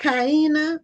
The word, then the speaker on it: Kyina: How do you pronounce Kiana? Kiana.